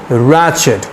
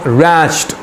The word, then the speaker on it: ratchet: द pronunciation is रैचेट, नॉट रैच्ड. रैचेट.